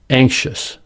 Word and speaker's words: anxious: Anxious, complexion. The letter X in these words is pronounced with two sounds, ksh.